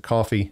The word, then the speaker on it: Ko-fi: description as well just look for the ko-fi they pronounce it coffee it's a one-time thing